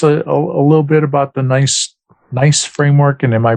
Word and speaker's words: NICE: Could you tell us a little bit about the NICE framework? And am I pronouncing it? Is it pronounced nice?